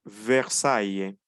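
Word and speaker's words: Versailles: pronuncia e Mesón cemento Cuando tenemos a y seguido de una l o de dos l no pronunciamos e es una pequeña excepción Cómo pronunciamos pronunciamos a Y entonces tenemos ejemplo tenemos caballé tenemos ludby Y tenemos versaye nuevamente el verbo trabajé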